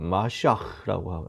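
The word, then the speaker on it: מָשִׁיחַ: 그래서 정확한 발음으로 히브리어로는 마시아흐라고 하고요. 헬라어로는 크리스토스라고 합니다.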